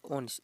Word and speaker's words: honest: उसी प्रकार इसमें भी एच किस में साइलेंट है, तो देखिए ऑनेस्ट, इसमें क्या दिया हो HONEST ऑनेस्ट, इसमें क्या दिया ऑनेस्ट में क्या होता है, एच साइलेंट होता है, क्या होता है प्यारे साथियों, एच।